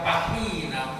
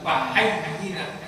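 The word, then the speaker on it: فحيّنا: Bukan kebanyakan imam membaca pahina rabbana bisalam. Yang betul bukan pahina tapi pahayyina.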